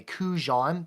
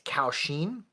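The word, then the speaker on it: kouxian: in my last video I referred to this as a kujon that is not what they're called somebody uh commented who knew how to say it in Mandarin it's kausheen and they are three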